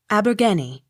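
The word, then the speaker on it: Abergavenny: n n y pronounced abergenie av not sounded spelt a-r-b-u-t-h-n-o-t pronounced arbuthnot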